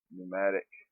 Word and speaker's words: pneumatic: Pneumatic. Even though the P is silent, but that's a pneumatic trader.